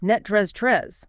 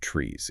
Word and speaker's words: NTREIS: It is pronounced NTREIS. NTREIS, like the word mattress. Almost exactly. The last syllable sounds like rust. It is not trees. It is TREIS. NTREIS.